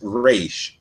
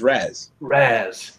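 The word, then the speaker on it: Ra's: Yeah, dude, no, like, because one of them's got a Boston accent, so he says Raish, but the other one's got like a California accent, so he says Raz.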